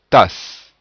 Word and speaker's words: tasse: Alors, à la lettre E correspond le son E muet, c'est-à-dire qui n'est pas prononcé, si cette lettre est en fin de mot ou de syllabe. Par exemple, tasse. Donc à la fin, on entend le son S, mais rien derrière.